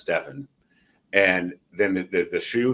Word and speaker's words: Stephen: Nike doing the pitch mispronounced his name Stephen and that's Stefan and then the the